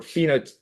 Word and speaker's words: phenotypic: and deletion practices and a notice that the consumers deidentify genetic or phenotypic phenotypic information may be shared.